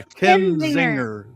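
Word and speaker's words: Kinzinger: name since he's Kenzinger. Yeah, Kenzinger. Okay. Like Zinger. Ken Zinger.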